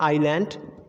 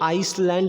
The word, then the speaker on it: island: आइलैंड, islet, आइल। अब गलती से इसको आइसलैंड नहीं पढ़ा जाएगा और इसको आइसलेट नहीं पढ़ा जाएगा और इसको आइसल नहीं पढ़ा जाएगा।